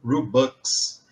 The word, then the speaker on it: Robux: de robux né mas a pronúncia em inglês seria mais ou menos algo como robux e bus em inglês é isso trocado né dinheiro igual a gente fala grana eles falam bucks em inglês e e é uma